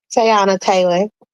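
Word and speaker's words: Teyana Taylor: Pronounce her name for me. Tayana Taylor.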